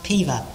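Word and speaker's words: Peover: o v e r the o is silent it's pronounced piva so maybe the o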